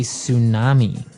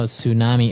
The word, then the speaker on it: tsunami: they may have a tsunami. Well, this doesn't sound very English, does it? I know, tsunami. And actually, if you see the spelling, it's with a T, T-S.